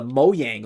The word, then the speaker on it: Mojang: You got the PlayStation logo, the Mojang logo, or the Moyang logo is apparently what it's pronounced.